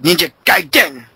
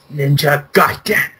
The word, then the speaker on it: Ninja Gaiden: You gotta say it like the wizard, like the guy in the wizard, like Ninja Gaiden. Yeah. Ninja Gaiden.